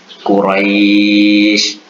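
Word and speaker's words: قريش: Ya sukun kita baca i, waw sukun kita baca menjadi u. Quraisy, khauf.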